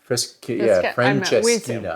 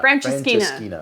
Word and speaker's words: Francesinha: But there's this sandwich called the Francesinha. Francesinha. I think so. And it's spelled weird.